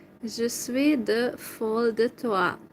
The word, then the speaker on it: toi: Je suis de folle de toi. Toi is like your. Toi. It's written as T-O-I, toi. But the I is pronounced like a sound or something in French.